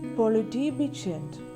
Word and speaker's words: politibetjent: TJ is pronounced like a soft CH sound in chew.